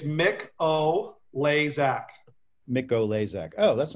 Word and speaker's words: Mikolajczak: And literally it's taken me 4 years to be able to pronounce it. I think I got it right now, Mikolajczak.